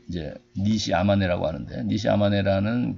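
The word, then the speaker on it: 西周: 양 쯤에 한자 말은 소주 좋겟습니다 같은 일본식 발음이 이제 2시 아마 내라고 하는데 니시 아마네 라는 그 사람이 바로 이유가 철학의 저도 했던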